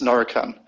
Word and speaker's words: Norican: and that part there is is is it pronounced norrison or norakin group it's narcan um and it's an it's an interesting um